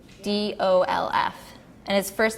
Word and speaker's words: Oudolf: Udolph, it's Oudolf, and his first name is Piet, so I don't know if I'm pronouncing it right, but I say Pete.